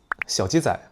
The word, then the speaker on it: 小姬崽: Et c'est 小姬崽. Cela a la même prononciation que le mot 小鸡崽, qui signifie "petit bébé poulet".